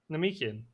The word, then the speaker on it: Namekian: Namekian. They're from Namek, so they're Namekian.